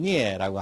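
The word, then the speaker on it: 疒: 뜻은 병들다, 음은 역, 발음은 니에라고 합니다.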